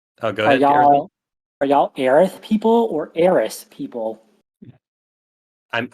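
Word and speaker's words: Aerith: but yeah yeah it's very it's very clearly aith now it's been it's been enough games of aith that I've converted um but it it was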